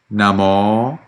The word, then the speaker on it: Namo: The vowel at the end of Namo and then Bhagavato and Arahato is actually long, and it needs to be clear from your pronunciation. Namo tassa Bhagavato Arahato Samma Sambuddhassa.